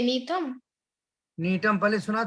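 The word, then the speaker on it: Gnetum: एक और लिखेंगे आप, जो वो 12th क्लास के 138 पेज पर डाला है, नीटम। अब यहाँ जी यहाँ भी साइलेंट है, गनीतम नहीं बोलोगे, नीटम।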